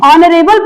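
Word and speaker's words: honourable: लेकिन उनको क्या करते हैं, जब हम उन शब्दों का उच्चारण करते हैं तो उसमें एच का उच्चारण नहीं करते हैं। एच का उच्चारण क्या करते हैं, नहीं करते हैं, तथा आगे के अक्षर से हम उसका उच्चारण करते हैं। जैसे यहाँ पे लिखा OUR, तो इसको हम पढ़ेंगे आर, हावर नहीं पढ़ेंगे, क्या पढ़ेंगे, आर पढ़ेंगे। ऑनेस्ट नहीं पढ़ेंगे, ऑनेस्ट पढ़ेंगे। ऑनर पढ़ेंगे, ऑनरेबल पढ़ेंगे, ऑनरेबल।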